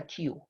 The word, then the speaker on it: queue: So that is a Q. Q is the pronunciation.